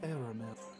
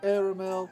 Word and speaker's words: Aramil: My name is Aramil. Yes, Aramil, that's how it's pronounced.